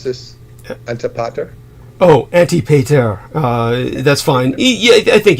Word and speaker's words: Antipater: Oh, Antipater. That's fine. Yeah, I think you're doing fine, really. Sounds like Anti-Peter.